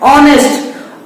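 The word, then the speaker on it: honest: यहां पर देखिए एच लिखा है, एच भी आपका एक कॉन्सोनेंट है, बट इसको हम प्रोनाउंस कैसे करते हैं, इसको हम प्रोनाउंस करते हैं ऑनेस्ट। और जब हम ऑनेस्ट कहते हैं तो इसका जो स्टार्टिंग साउंड है वो एक वॉवेल का साउंड है, तो वॉवेल का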